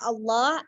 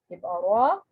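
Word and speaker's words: الله: dikata Allah jadi ketika ketika kata Allah sebelumnya adalah huruf yang memiliki harokat fathah atau huruf yang memiliki harokat bom mah maka huruf lam pada kata Allah akan diucapkan dengan tebal terus Jika ada huruf sebelumnya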